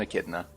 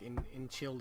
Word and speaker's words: echidna: I thought it was like in Childa or something like that. No, it does look like that. I mean, it's entirely reasonable to try to pronounce it that way.